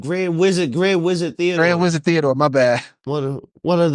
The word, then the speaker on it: Grand Wizard Theodore: it right grand grand wizard Grand wizard Theodor Grand wizard Theodore my bad what one of the they will